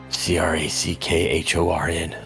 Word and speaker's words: Crackhorn: Crack Wait, how do you spell it? C R A C K H O R N. Horn. Yeah, crack horn.